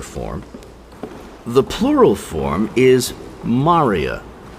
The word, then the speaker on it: maria: the plural form is Maria spelled like the name but pronounced differently m a r i a Maria and these are